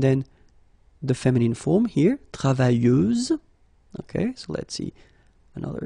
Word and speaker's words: travailleuse: Feminine form, travailleuse, same rule and same phonetical thing, you don't pronounce the final S, so you get travailleuse.